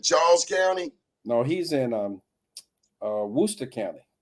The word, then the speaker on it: Worcester: No, he's in Worcester County. Worcester. That's how you pronounce it.